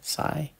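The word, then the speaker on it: sai: Again, that sigh is kind of like, am I pronouncing it right? S-A-I, sigh.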